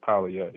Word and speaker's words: Paleo: Well, the the correct pronunciation is Polye. Paleo, okay, Um, gotcha.